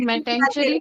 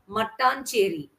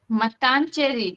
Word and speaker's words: Mattancherry: Metancheri place. Kerala. Yeah, Kerala, we have the tongue twisters. Okay, it's called Mattancherry. Matancheri. Cherry, yes.